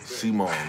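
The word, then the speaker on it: Cemone: that like button spell it right c-e-m-o-n-e Simone not Simone thanks stop playing on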